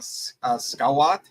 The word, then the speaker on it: Schwandt: So if I say it wrong, Schwandt.